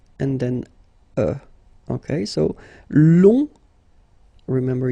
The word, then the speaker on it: long: and then okay so long remember you don't pronounce the final J will become long okay so fanatically it's